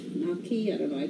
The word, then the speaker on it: gnocchi: new people okay and i know i'm not pronouncing gnocchi right you're supposed to say naki naki i don't know i